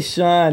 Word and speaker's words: Schon: this is your lag neal it's really sean you know is it sean yes i'm saying it wrong well you know people have asked me two different times and i changed my mind now so i went back to sean probably just right